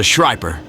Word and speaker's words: Schreiper: This is a Schreiper. And no, that wasn't me mispronouncing the word sniper, as if I were eating some food.